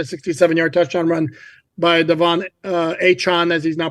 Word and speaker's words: Achane: And then you had the 67-yard touchdown run by Devon Achane, as he's now pronounced.